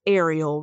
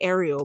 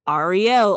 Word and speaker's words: Ariel: okay well you know so it's Ariel right and I feel like it's just like okay Ariel but like Arielle all the time Ariel all the